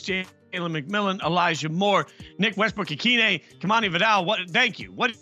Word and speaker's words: Westbrook-Ikhine: So go with Nick Westbrook-Ikhine.